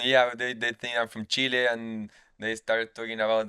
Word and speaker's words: Chile: you stopped getting annoyed that Americans called it chili? What do you say? Chili, Americans say chili. They don't say Yeah, Chile. Chile.